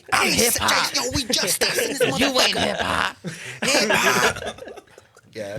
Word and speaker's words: JUSTxUS: I'm Doc J, We are JU, Just Us. representing Just Us. Just sir. X us. The X is silent, representing the 90744.